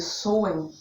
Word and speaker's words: Samhain: E para os bruxos praticantes, a gente usa o nome Samhain, S-A-M-H-I-N, se pronuncia Samhain, tá?